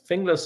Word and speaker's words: Finglas: you go from from is it Finn glass is that how you say it English finglas is a suburb on the